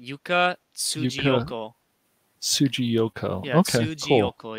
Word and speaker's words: Yuka Tsujiyoko: Her name, you would pronounce it Yuka Tsujiyoko.